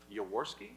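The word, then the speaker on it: Yaworsky: We're pleased to start the meeting this morning uh hearing from Michael Yawski.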